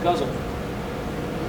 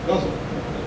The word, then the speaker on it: ghazal: It's a ghazal. If you know what a ghazal is, very interesting sort of poem. Jonathan, it's pronounced guzzle. Yeah? Guzzle.